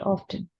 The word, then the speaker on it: often: in British English, it is spoken as often. Yes. Yes. The Yes. spellings are both same, but yes, they pronounce it. Americans, they pronounce it often. Yes. Americans say, why should we keep the T silent?